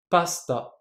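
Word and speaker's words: パスタ: Les pâtes, en japonais, pasta. Ici, le su, écoutez bien, je n'ai pas prononcé le u, pasta.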